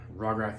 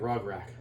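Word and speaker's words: Rograkh: go first and yes i know as always i'm saying it wrong and i spell it wrong in the description but i don't care you know because it still seems like rock rack so i'm gonna he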